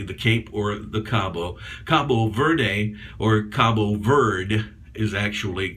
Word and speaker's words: Cabo Verde: word or Verde but the final e on the end is silent in pronunciation in Portuguese hence combo or Cape as they say the cape or the Cabo Cabo Verde or cabo verde is